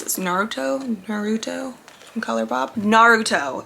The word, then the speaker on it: Naruto: Naruto Naruto from colourpop Naruto is how you pronounce it I just looked it up on Tick Tock thank you colourpop they